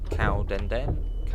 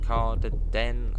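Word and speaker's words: Cardenden: This is Cowdenden. Cowdenden. Oh, Cardeden. Someone said how you pronounce it yesterday.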